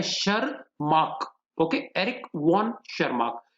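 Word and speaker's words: Tschermak: Spelling गौर करेंगे, T silent है, शरमार्क।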